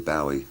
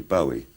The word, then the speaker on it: Bowie: i've lost track uh i always thought it was bowie i thought what is this scottish name must be bowie but nobody in scotland pronounces it i pronounce it bowie it was some kind